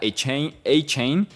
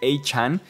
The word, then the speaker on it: Achane: Antes se pronunciaba Achane. Y él mismo salió a decir, ya no, quiero que me digan Achane.